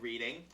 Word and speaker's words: Reading: if I may, Whitelum Books is located in Reading, Massachusetts. Is that so? Skippy, doesn't this say reading Massachusetts? It certainly does, Mr. Keely. Again, if if I may say, it's spelled like reading, but it's pronounced reading.